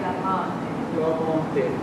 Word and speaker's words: l'amante: Now, these A vowels are really sounding big old Mississippi A vowels. Quel che l'amante. Quel che l'amante. L'amante. L'amante. There it is. That's an A vowel.